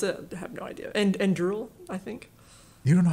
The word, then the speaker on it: Anduril: Well, I know the word, but how I pronounce it, I have no idea. Anduril, I think.